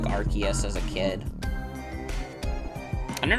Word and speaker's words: Arceus: I think Arceus is better pronounced with a... sounds better pronounced with a hard C, like Arceus. I think I used to say, like, Arceus as a kid.